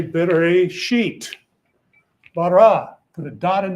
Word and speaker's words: Bereshit: So here you got B-R, silent letter, S-H-Y-T, Bereshit. So put a dot over that, put a dot here. So that tells you to say Bereshit.